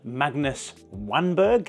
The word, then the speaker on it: Magnus Wanberg: video and an interview with the remarkable founder Magnus wanberg is how you pronounce it anyway I had no idea this